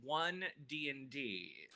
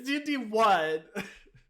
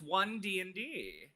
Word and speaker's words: One D&D: me okay let's get let's say it correctly it is one dnd that's not even correct it's d1 no it's not it's one dnd let me look at